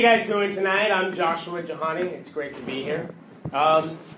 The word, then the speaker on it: Jahani: are even semi foreign my name is spelled j a ha and I it's it's said the exact same way that it's spelled but it kind of